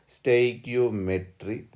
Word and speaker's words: stoichiometry: Somebody will pronounce stoichio, but depends. This is stoichiometry.